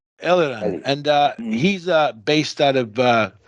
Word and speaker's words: Eliran: Did I pronounce his name? Eliran.